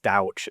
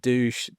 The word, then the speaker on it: Douch: just so you know my surname is pronounced douch like couch not douche duck all the other things